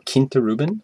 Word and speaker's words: Quinta Ruban: here is Glenn Mori Quinta rubben or Kint Ruben as I believe it's it's pronounced and that's there we